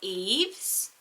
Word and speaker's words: Yves: together sounded so beautiful, is the name Eves. So you spell it Y-V-E-S.